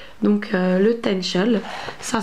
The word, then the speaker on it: Taennchel: J'ai oublié de vous dire que la montagne du Tenchel, son altitude est de 988 mètres d'altitude.